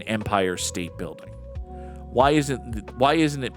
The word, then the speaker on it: Empire State Building: Why do you put so much emphasis on the word state in empire state building?